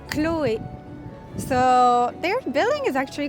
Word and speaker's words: Chloé: We don't pronounce the H at all, so it's Chloé.